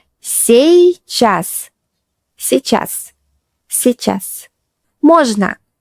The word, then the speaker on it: сейчас: Pay attention to pronunciation. Сейчас.